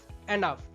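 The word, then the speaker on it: enough: ঠিক একইভাবে রাফ, টাফ, এনাফ সবগুলোতে এইউ জিএইচ বা ওইউ জিএইচ প্যাটার্ন আছে।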